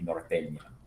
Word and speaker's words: norteña: That second N in the word would be the Enye. So it would be norteña if you were to pronounce that word absolutely correctly.